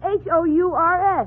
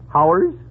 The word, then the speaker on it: hours: Now, how do you pronounce H-O-U-R-S? H-O-U-R-S... Oh, Howers? You pronounce it hours.